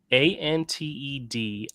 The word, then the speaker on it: antediluvian: So, antediluvian. Antediluvian. I've never heard of that word. Spell it again. Antediluvian. Ant as in ant. Ediluvian.